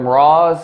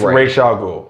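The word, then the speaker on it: Ra's al Ghul: that's the thing - man that's the correct pronunciation your name they call it how they call him Ross it's Rachel's Oh Rach don't ever if you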